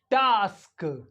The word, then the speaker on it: task: ए को प्रोनाउंस करते ए इ pronounce like uh in father uh this is uh sound